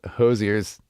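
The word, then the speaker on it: Hozier: pronouncing his name wrong I said hoser it's not hoser it's Hosier Hosier Hosier so I apologize Andrew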